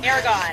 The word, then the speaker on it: Aragon: It's not oregano. I know it's not oregano. Aragon. Aragon. Aragon.